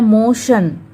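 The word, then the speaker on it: motion: फिर है मोशन, MO मो, फिर TION शन। फिर है पोशन, R साइलेंट रहेगा, पोशन।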